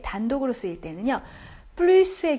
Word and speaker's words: plus: 플루스의 경우에 s 발음 꼭 해 주셔야지 된다는 거 말씀드렸어요.